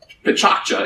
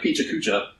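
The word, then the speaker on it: Pecha Kucha: Pichakcha, it's spelled like Picha Kucha, pronounced Pichakcha, is Japanese for chit-chat.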